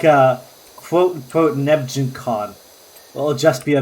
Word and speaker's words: Nebgen: I pronounce it Nebgen because it comes from the word Benjen.